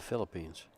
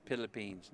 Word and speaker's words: Philippines: For those of you, what time is it in the Philippines?